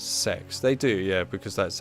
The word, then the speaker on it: CeX: I noticed that CEX adverts now pronounce the name as sex.